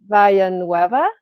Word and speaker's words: Villanueva: Joining us here on this podcast with Paulina Villanueva. Did I pronounce that Yeah, correctly? Okay. Villanueva.